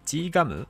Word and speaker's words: GGUM: ますよねで今回の G ガムていう合ってる発音は G ガムソロ曲 txt 40